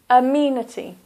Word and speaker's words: amenity: first word is amenity so that's four syllables one a meanie t-this is a sound Mena T here is the stress amenity amenities they got singular